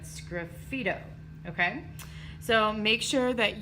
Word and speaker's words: sgraffito: am going to write my favorite word to say scruffy toe it is spelled very very weird but scruffy toe okay so make sure